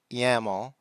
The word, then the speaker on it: YAML: The second one is YL which is pronounced YAML kind of rhymes with camel and it originally stood for yet another markup language.